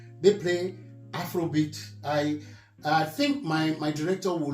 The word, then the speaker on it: Afrobeat: And it's a shame that in Nigeria today, the Afrobeats, my pronunciation is Afrobeat, which is Fela's creation. Yes. And it's Afrobeats. I don't know who decided they were going to use that S and add to Afrobeats, and which is making